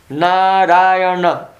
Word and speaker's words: Narayana: Narayana. 4 syllables.